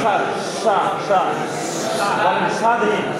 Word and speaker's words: স্বাধীন: বকলার উচ্চারণ হবে, কিন্তু শব্দটা একটু শ্বাসাঘাত দিয়ে পড়তে হবে, একটু জোর দিয়ে পড়তে হবে। বকলা শব্দের শুরুতে আসে, উচ্চারণ করে দেখি, আর একটু স্বাধীন, স্বাধীন, আবার বলে আমি কি